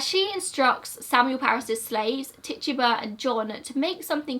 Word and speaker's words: Tituba: the Parises, and she instructs Samuel Paris's slaves, Tituba and John, to make something called a witch cake.